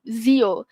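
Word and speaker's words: zio: Okey dia zo. Z bukan se bukan s. Okey zo.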